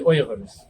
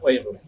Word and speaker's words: Uyghurs: They are known as the Uyghurs, or the Uyghurs is how it's properly pronounced. And I'll use both of them, but I will try my best to stick with Uyghurs because this is the